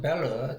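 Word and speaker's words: Belle: 자 이렇게 프랑스 벨르 자 이거 불어 발음으로 벨라라고 읽는 게 아니라 프랑스 발음으로 읽으면 벨르라고 읽는 게 불어 발음으로 맞습니다.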